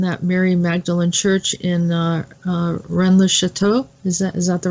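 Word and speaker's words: Rennes-le-Château: and it's in that Mary Magdalene Church in Rennes le Chateau is that is that the right way to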